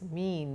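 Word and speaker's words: mien: Am I in pronounced as mean not me and of cautious mean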